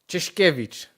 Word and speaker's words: Czeszkiewicz: Can you please give us the pronunciation of your last name? Yes. Kevich.